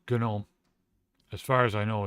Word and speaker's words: GNOME: If they do go Gnome or if they go genome. It's Gnome.